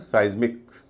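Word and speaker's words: seismic: इसका उच्चारण है साइज्मिक।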